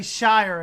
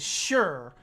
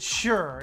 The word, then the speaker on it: shire: family sticks together no we don't say shire at all we say it is sure we ain't no hobbits they're taking the hobbits to eyes and god we ain't no hobbits hey what's up ray now if a place in the uk ends in shire you pronounce it sure it's a unanimous